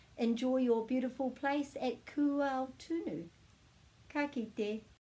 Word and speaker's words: Kūaotunu: So we're going kū, and then we're going āo, āo, kūao, kūao, kūao. So we're just pronouncing each of them together. There's no silent letters in Te Reo Māori.